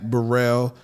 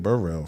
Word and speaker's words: Worrell: And I want to say my name is Worrell. Worrell. W. I'm sorry. That's all right. See, there we go. Worrell. See? That's all right. She corrected me. Where'd I get Burrell from?